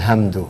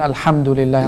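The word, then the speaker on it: الحمد لله: so they're probably reciting like I'll handle it handle and they should be reciting like a lamb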